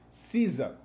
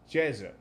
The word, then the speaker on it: Ceza: i pronounced it wrong i said caesar but according to my turkish friend it should be jesus i hope i pronounce